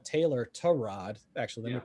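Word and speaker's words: Tyrod: he was i mean almost dead set on tyra taylor torrad actually let me pronounce his name correctly still being the starter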